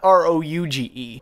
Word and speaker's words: Rouge: First of all, Rogue is spelled R-O-G-U-E, not R-O-U-G-E. R-O-U-G-E is pronounced Rouge, which means red in French.